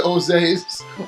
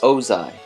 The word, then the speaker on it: Ozai: An anus next to Oze's. I don't know if I'm pronouncing that correctly. Let me see it. It's Ozai.